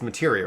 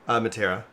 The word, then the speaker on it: materia: I just learned how to say it's materia, right? Yeah. How were you saying it before? Matera. Materia.